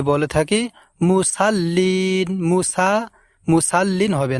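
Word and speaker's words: مُصَلِّين: এই জায়গায় ভুল করে থাকি যে বলে থাকি মুসাল্লিন মুসা মুসাল্লিন হবে না বলতে হবে আমাদেরকে মুসাল্লিন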